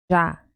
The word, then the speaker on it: já: La pronúncia es já, já, já era.